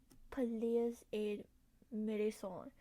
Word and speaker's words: Pelléas et Mélisande: Wait, how to pronounce it? Pelléas et Mélisande.